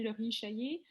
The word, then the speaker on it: Chaillet: Alors, Laurie Chaillet, si je prononce bien votre nom de famille, j'espère, vous avez la parole. Oui, mon nom est bel et bien Laurie Chaillet.